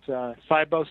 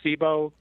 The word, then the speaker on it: SIBO: I mean, I've heard it both ways, quite honestly. So either way, you're right. It's SIBO, SIBO. It's kind of like stevia and stevia, if people have different ways to pronounce it.